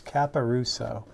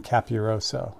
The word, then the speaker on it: Caparuso: the Thursday feed, but I've been pronouncing their last name wrong since I have internetly met them. So I apologize for that. It is Caparuso. I've been saying Capiroso, and I don't know why. Because I'm adding letters, and that's not cool.